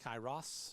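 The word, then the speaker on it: Kairos: think that's it so the Kyrie team did I pronounce that correctly Kos kyus kyos kyos yes was that uh for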